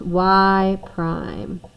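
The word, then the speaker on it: y′: 8th all right so this is pronounced y Prime right so it's not if you're if you're trying to read it to someone or read it aloud it's called y Prime and this one you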